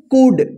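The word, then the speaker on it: could: डी इसको क्या पढ़ेंगे कुड डी से पहले एल है तो साइलेंट रह गया कुड कुड का मतलब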